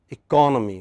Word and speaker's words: economy: at the next word economy which part of the word is stressed for syllable second syllable third syllable second second syllable from right but next word